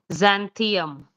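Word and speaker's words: Xanthium: So it will be pronounced as zanthium.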